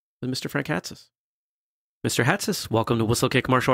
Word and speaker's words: Hatsis: yeah it has this it's like you wear a hat on your head and somebody would call